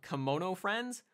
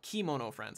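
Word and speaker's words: Kemono Friends: a random supporting role in a show called kimono friends or kimono friends I guess it actually should be pronounced uh which is further down the list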